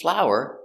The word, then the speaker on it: flour: And I use flour to make bread. Pronunciation is the same. Full, ow, flow, flower, flower, flower. Same pronunciation.